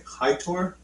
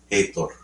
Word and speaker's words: Heitor: How do you pronounce the first name? Hitor? Hitor? Heitor. Heitor.